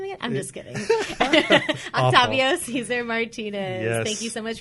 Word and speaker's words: Octavio Cesar Martinez: You got to roll the R.